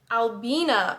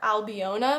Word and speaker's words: Albina: real life and I had been calling her albiona McLachlan but Emma was pronouncing it Albina so Albina McLaughlin it's